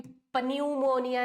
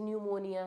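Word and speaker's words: pneumonia: तो भैया अभी प्यूमोनिया नहीं है। इट इज़ निमोनिया starts with the letter P बट इट is silent here.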